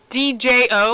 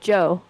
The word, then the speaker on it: Djo: Is that how you say DJO? Yeah. That's how you say it? I thought it was DJ. Yeah, it's just Joe.